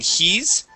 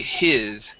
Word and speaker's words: his: uh but yes uh make sure that that it is a short eye as well so instead of saying he's it would be his goodness where did his